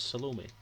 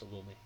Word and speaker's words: Salome: you tends to ins it tends to signify that the stress is on the end of the word um in most languages